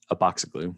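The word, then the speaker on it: Abatzoglou: And I just wanted to highlight, because this is my colleague John, and that's Aboxiglu. That's how you pronounce his last name, Aboxiglu.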